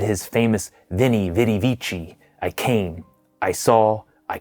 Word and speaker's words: Veni, vidi, vici: battle, said his famous Veni, Vidi, Vici, I came, I saw, I conquered, and then returned to Italy. As an aside, in classical Latin, it's pronounced more like Winnie, Witty, Wiki.